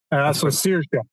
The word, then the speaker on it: Sears: Sears. Like you're searing a steak.